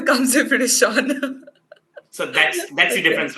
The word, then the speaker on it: Sean: Shean. Shean. Okay, it's kind of difficult because E and A comes together. So Sheen, it's actually Sean. Sean.